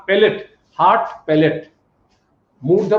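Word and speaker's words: palate: প্লেট না প্যালেট, heart প্যালেট।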